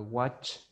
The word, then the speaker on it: watch: Porque no es lo mismo que usted diga wash a que usted diga watch. Entonces no me puede decir I watch TV, porque si me dice I watch TV, yo me lo imagino lavando el televisor.